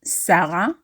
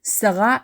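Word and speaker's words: שרה: literal meaning of Sarah not Sarah but stressing the last syllable Sarah is the feminine form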